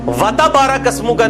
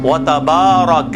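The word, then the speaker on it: تبارك اسمك: हरकात के बराबर है ये वता बारा कस्म का नहीं है वता कस्मुका कस्म का वताला जद्दू का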